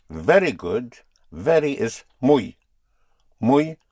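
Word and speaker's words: muy: Mui spelled m u y mui.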